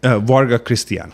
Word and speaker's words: Varga Krisztián: Varga Krisztián. So Varga. Last name basically Krisztián. So in Hungarian you switch to first name and last name. So it's last name first and first name last.